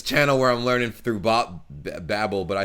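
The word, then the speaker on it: Babbel: do in germany is the language app babble which is holy i do pronounce that wrong i say babel all the time like yeah i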